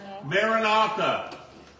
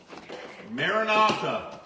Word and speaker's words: Maranatha: what the greeting of the Newfound churches was Maranatha the Lord cometh Maranatha how do you spell that in a r-a-n-a-t-h-a Maranatha the Lord cometh make sense and that is